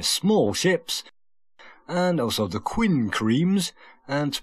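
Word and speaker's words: quinqueremes: And also the quincremes. And to pronounce that, some people pronounce it queen and cream.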